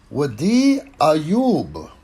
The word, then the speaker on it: Wasi Ayoub: Today, we're going to talk about, and I went to a pronunciation page for this one, Wasi Ayoub.